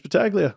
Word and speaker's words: Battaglia: like is that Italian yeah but battalia oh I could never figure out what his background was but it's Battaglia wow I don't know